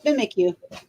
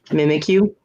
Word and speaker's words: Mimikyu: to try it mm-hmm it's mimikyu mimikyu because he's mimicking you yeah it's from pokemon